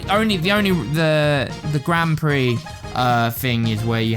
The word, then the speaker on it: Grand Prix: like 15 minutes there's like event races there's Grand Pricks there's mini Grand Pricks and CH Ben sorry it's t you to sorry it's I I hate to break it to you but it's it's pronounced Grand Prix oh yeah sorry but I saying it wrong